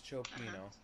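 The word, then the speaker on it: cioppino: So this is an Italian word. So Italian word. it's chopino. Chopino. So we read CIS. Chopino. Only because it's a borrowed word, meaning that it doesn't have the normal English pronunciation.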